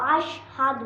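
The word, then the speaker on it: أشهد: বলুন হাদু আশহাদু আশহাদু আল্লা ইলাহা আশহাদু আল্লা ইলাহা ইল্লাল্লাহু ইল্লাল্লাহু ইল্লাল্লাহু ইল্লাল্লাহু ওয়া আশহাদু ওয়া আশহাদু এখানেও ওয়া আশহাদু সাধু বললে হবে না হাদু ওয়া আশহাদু আন্না ওয়া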